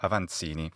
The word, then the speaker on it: Avancini: I assume he's Italian, so I'm going to say his name in the Italian way. Alberto Aansini.